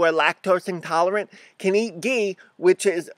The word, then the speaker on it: ghee: So, my first thing, okay, this is a jar of ghee, which is spelled G-H-E-E, and what that is, if you can see, is that it's clarified butter.